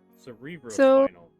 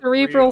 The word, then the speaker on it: cerebrospinal: Look at the spelling. B-R-O. Not B-R-I-L. Oh. Cerebral? You see how it's spelled right here? Cerebral spinal. Cerebrospinal. It's a cerebral spinal fluid. It's not cerebral real.